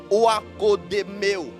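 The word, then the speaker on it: oikodomeo: Ça s'écrit Oakodemeo.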